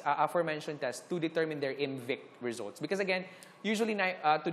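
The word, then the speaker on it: IMViC: Ang I, kay murag ibutang na siya para murag ma-pronounce mo siya as MVIC.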